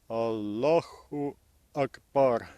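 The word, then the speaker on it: الله أكبر: В арабском In произношении Arabic еще pronunciation, добавляется к слову they «Аллах» had the vowel hu в данной to the word hala конструкции. in this construction. Аллаху Акбар.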